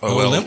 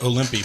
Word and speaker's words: Olympe: Olymp? OLYMPE. I always pronounce that Olympi, by the way. No, her name's Olymp.